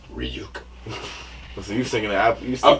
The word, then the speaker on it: Ryuk: Yeah, it's pronounced Ryuk.